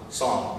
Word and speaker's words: Psalm: Psalm, that's p s a l m for those who don't speak good English. The p is silent.